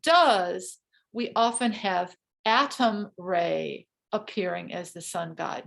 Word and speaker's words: Re: it was the god Re, and it's spelled R-E, like do, re, mi.